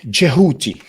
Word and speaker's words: Jehuti: Well, it's really Jehuti, but just like the word Necher, many times, many people, including myself, pronounce it Neta. And it's the same with Jehuti. Really, it's Jehuti with the D underlying D, that just sound a combination of the D and the J.